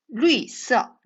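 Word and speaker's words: 绿色: 루이서. 네, 여러분 러하고 위 발음이에요. 그래서 사성입니다.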